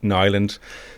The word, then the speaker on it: Niland: So it's Niland. I think the I is a Y. But yeah, that's how you say it.